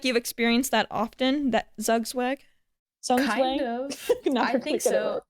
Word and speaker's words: Zugzwang: Zugzwang.